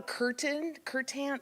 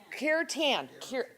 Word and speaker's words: kirtan: We have also, we don't have a slide for it, but we have a curtain, I would never can pronounce it properly. Kirtan, yes, that.